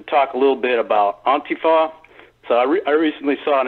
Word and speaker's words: Antifa: And he says it's pronounced Antifa. I mean, I've been mispronouncing it Antifa, but whatever.